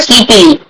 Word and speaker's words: sleepily: However, sleepily. Here ly is not silent. You have to mention ly as in leap.